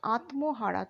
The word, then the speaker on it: আত্মহারা: যেমন আত্মহারা, তয়ময় বলে আত্মহারা কিন্তু আমরা উচ্চারণ করব না, করব কি? আত্মহারা। হ্যাঁ, ময়ের উচ্চারণটা উহ্য থাকবে।